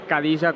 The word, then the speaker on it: Khadija: estirón de oreja porque no se llama Khadija como pronunciamos, a pesar de que su nombre empiece por K, sino que se pronuncia con J. Khadija Ramuni.